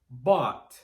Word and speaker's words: bought: There are only 3 sounds when we say bought. B, A, T, bought.